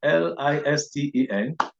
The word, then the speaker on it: listen: it's not so so listen is pronounced as listening l-i-s-t-e-n the letter T is absent is not it is silent there and so it is